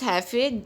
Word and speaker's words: jefe: And boss is pronounced as jefe because J is pronounced as hota in Spanish, so it is pronounced as jefe.